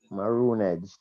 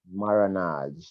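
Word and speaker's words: marronage: Maronage. Yeah, some people pronounce it like that, and some people say maroonage.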